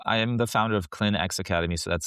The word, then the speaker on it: Clinx: So, I am the founder of Clinx Academy. So, that's spelled C L I NX Academy.